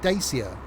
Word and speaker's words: Dacia: Even, you know, people took the mickey out of the Dacia, or Dacia, if you want to pronounce it.